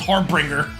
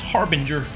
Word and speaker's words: harbinger: not too long ago I always thought it was harbringer I'm bringing the har but I Google it it's Harbinger je does two string